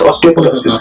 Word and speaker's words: ऑस्टियोपोरोसिस: मेरी दादी माँ इनके जोड़ों में रहती है, और इससे एक जुड़ा हुआ और है कि ऑस्टियोपोरोसिस करेक्टली प्रोनाउंस ऑस्टियोपोरोसिस।